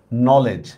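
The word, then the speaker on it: knowledge: যেমন দেখেন ইংরেজিতে আমরা যদিও বানান লিখতেছি কনোলেডজ, ঠিক না? আমরা বানান লিখতেছি কনোলেডজ, কিন্তু উচ্চারণ করার সময় কিন্তু করতেছি হচ্ছে নলেজ।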